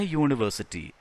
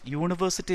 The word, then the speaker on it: university: But university begins with the sound ya, ya, ya plus u. University, not university.